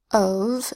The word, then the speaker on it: of: Of is our next word, basically a sight word. Normally F says F, but in of, F says V.